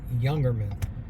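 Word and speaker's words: Jungermann: It's German, so it's pronounced Youngerman.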